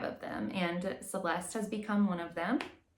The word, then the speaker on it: Celeste: I've heard some people pronounce it Celeste. This is Celeste.